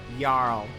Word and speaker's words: Jarl: Oh yeah, get that Nordic pronunciation just right. Jarl.